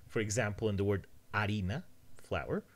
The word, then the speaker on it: harina: For example, in the word harina, flour, the H is silent.